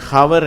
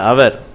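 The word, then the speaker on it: hour: இது ஹவர் என்று சொல்லக்கூடாது, இது அவர் என்று சொல்லுகிறோம்.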